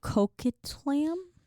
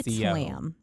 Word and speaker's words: Coquitlam: Coquitlam? It's Coquitlam.